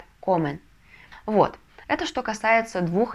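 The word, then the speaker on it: comen: Инфинитив «комер», «они едят» – «комен».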